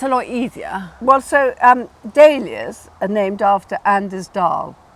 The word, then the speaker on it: dahlia: you think you'll pronounce dahlia? Well, having spelt dahlia for many years, I'm going to go for dahlia rather than dal as in that nice curry sauce.